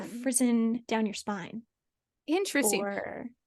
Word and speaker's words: frisson: It's not Frisian, but I think it's Frisson, something like that.